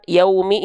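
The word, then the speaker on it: يوم: Pastikan ketika melafalkan yaumi ini, pastikan wawu sukunnya ya dilafalkan dengan pelafalan yaumi, menyerupai bunyi u ya, yaumi ya. Jangan sampai kita lafalkan yaumi, yaumi ya. Jangan sampai kita lafalkan maliki yaumi. Nah, kenapa kok jadi bunyi vokal o?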